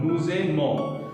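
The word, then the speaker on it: nous aimons: The first we came across liaison during nuzemo because here s ending and vowel ending becomes z sound. Also, most important part, nuzemo, we are only hearing up to n, the nasal sound, nuzemo. S is silent.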